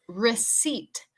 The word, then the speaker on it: receipt: All right, and number 6 is receipt. Receipt. Eso es como factura, recibo, receipt. Pero recuerde que la pronunciación de la P es muda con esta palabra.